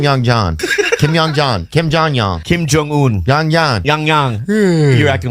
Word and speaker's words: Kim Jong Un: leader of North Korea, Kim Jong-un. Funny. Like, Kim Jong Yan. Yeah. What is it? Kim Jong Un.